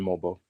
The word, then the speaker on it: Mogbo: For my campaign to actually work, are they calling him Mogbo or Mogbo? No, they said it right. They said Mobo.